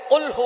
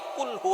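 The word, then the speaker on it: قُلْ هُوَ: আল্লাহ পাক রাব্বুল আলামীন এখানে বলছেন কুলহু আল্লাহু আহাদ। এখানে কফ দিয়ে পড়ছেন কিন্তু অনেকেই ভুল করে উচ্চারণ সঠিক না হওয়ার কারণে তারা পড়ে কাফ। কুলহু আল্লাহ।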